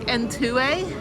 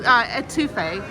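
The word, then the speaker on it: étouffée: You've got gumbo, you've got, I can't pronounce it, it's like entoué. What's it? Oh, etouffee. Crawfish etouffee.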